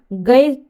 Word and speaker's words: ज्ञ: हिंदी में ज्ञ का उच्चारण गय किया जाता है। क्या किया जाता है? गय। कहीं कहीं गय भी उच्चारित होता है।